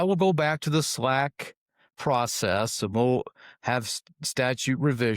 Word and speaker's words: SLAC: It's pronounced SLAC.